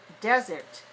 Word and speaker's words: desert: doesn't rain very much is called the 2-1 desert desert so palm springs is